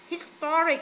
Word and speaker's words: historic: Rồi hai bạn kia, artistic nhấn âm 2, historic nhấn âm 2, dramatic nhấn âm 2 và scientific nhấn âm 3.